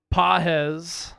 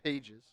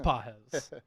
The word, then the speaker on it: Pages: Pahz the nine hitter comes up now or as Ally calls him pages. Spelled pages. It is spelled pronounced Pahz.